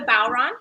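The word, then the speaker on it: bodhrán: And so this is a bowron. That's how you say it, right? It is. Which is an Irish drum, and I just got it recently.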